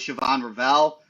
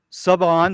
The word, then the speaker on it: Siobhan Rell: real fast going with Siobhan Rell, quarterback from East Carolina. Greg, you want to kick off Siobhan Rell? Well, it's uh sub on. The H is silent.